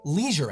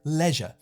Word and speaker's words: leisure: You see, in America, when you want to relax, you do a leisure activity. The word rhymes with seizure. In the UK, you're more likely to hear leisure. I'm heading down to the leisure center.